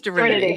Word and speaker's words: Divinity: I want to say as Divinity, like Trinity. Divinity. It's Divinity, yeah.